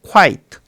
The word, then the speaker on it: quite: quite 여기에서 마지막에 있는 이 쟤는 묵음입니다. 소리가 안 나요.